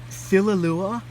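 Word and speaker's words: Thililua: uh formation um are called filalua I believe that's how it's pronounced t-h-i-l-i-l-u-a um and Men merges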